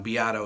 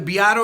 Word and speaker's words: Beato: my one thing that I know I pronounce my last name wrong Beato is how I pronounce it but that's how my parents pronounced it so they didn't speak Italian well my mom kind